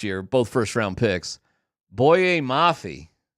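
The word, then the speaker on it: Boye Mafe: Boyet Mafi, that's how you say it, in 2022 is their second round pick.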